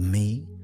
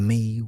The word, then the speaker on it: me: The mi pronounced like the English word may were the divine decrees or powers that the gods possessed.